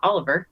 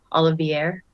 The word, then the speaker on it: Olivier: the summit of Mount Oliver which I don't know if I know where that is Olivier Olivier it spelled like fancier than Oliver and he also he